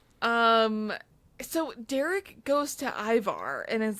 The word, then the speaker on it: Ivar: who goes up to Ivar which I'm obsessed that we are on episode six and people still are pronouncing Ivar as Iva I heard it at